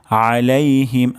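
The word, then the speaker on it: عَلَيْهِمْ: তারপর শব্দটি হলো আলাইহিম আলাইহিম আইন গলার মাঝখান থেকে উচ্চারণ হবে আলাইহিম এবং শেষ শব্দটি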